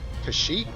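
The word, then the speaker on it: Cait Sith: I called him Cat Sith all my life up until I found out originally when I found out his real pronunciation is Kashyyyk, I think, and it just sounds weird.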